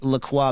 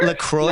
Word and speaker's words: La Croix: Okay, how do you say the La Croix beverage? Do you pronounce it like a French person, or how do Americans? What are we supposed to call that crap?